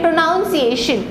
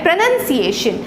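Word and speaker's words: pronunciation: यहाँ पर आपको एक एक्स्ट्रा ओ घुसाने की ज़रूरत नहीं है। इसको अगर हम सही तरीके से इस वर्ड को प्रोनाउंस करें तो वो होता है प्रोनंसिएशन।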